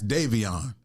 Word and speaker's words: Daivon: My name is spelled Daivon. That's Davion.